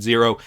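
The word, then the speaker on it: Xero: integration for Zero invoices, or X0, I'm going to pronounce it Zero for the purpose of this video, which aims to streamline how Australian businesses get paid.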